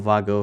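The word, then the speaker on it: WAGO: It says it's a WGO or Vago, however you want to pronounce it.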